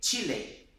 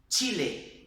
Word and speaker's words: Chile: Chile, Chile, tá vendo? É como se fosse realmente aquele T nosso, do português, né?